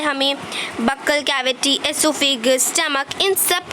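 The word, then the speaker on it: oesophagus: Then food pipe और एसोफेगस, इसे ओएसोफेगस नहीं बोलना, इसे एसोफेगस बोलना है। Okay, it's एसोफेगस, ओ is silent है।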